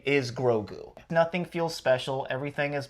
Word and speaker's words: Grogu: We were talking about how the Mandalorian, was it Grogu or Gagu? I think it's Grogu. You don't even know how to say it. It's Grogu Baby Yoda, because I haven't watched the show.